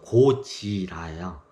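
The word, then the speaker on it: ゴジラ: 고질라 간단하게 설명을 드릴게요 고질라가 원래 저기 그 고지라야 일본식 발음이고 한자에요 옛 구 자에다가지가 땅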